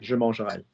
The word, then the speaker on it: mangerais: Years ago, a bit different, but now it's the same pronunciation. Happens to have the was spelling on the end, AIS, but we don't care because those two are the same.